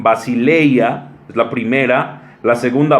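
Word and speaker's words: βασιλεία: Esta palabra reino de Dios, dos palabras griegas que se pronuncian basileia, es la primera, la segunda basileus, y esto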